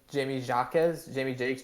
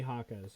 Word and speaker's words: Jaquez: And Jamie Jakes Jr. I don't know how to say his last name, but Jaime Jaquez, yeah. Okay, you know Jaime what? Jaquez.